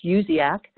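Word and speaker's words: USEAC: US export assistance centers the acronym is USDA C pronounced uz AK and these are offices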